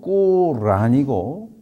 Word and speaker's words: 꾸란: 보통 한국 사람들은 코란이라고 말하는데 정확한 발음은 아랍어로 꾸란이고 그 말뜻은 낭송이란 뜻이에요.